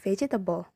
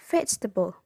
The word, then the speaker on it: vegetable: Most students might initially pronounce it as vegetable. Then you model the correct pronunciation, vegetable.